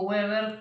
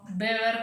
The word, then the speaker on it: Weber: O sea, fíjense que yo no le digo Weber como si fuera una W como en inglés, sino Weber como si fuera una B corta, eso porque es alemán, y en Alemania la W se pronuncia como B.